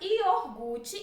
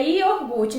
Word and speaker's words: iogurte: um ovo de verdade porque a forma correta é yogurte então se você fala